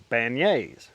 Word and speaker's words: beignets: mom uh the famous place to get beignets which is actually spelled like bagonettes but uh as I